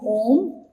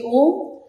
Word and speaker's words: Om: So I'll just like say Om. And now there is a technique because Om is made of 3 syllables like A, U and Ma.